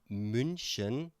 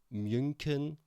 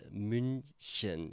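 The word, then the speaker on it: München: Because I guess the ch sound is a bit difficult to pronounce and many people say or would say munin but it's minen.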